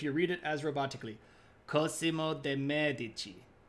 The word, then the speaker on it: Cosimo: are getting paid yeah I knew this first syllable is supposed to be stressed more thank you techman um I will only accept it if you read it as robotically Cosimo de there we go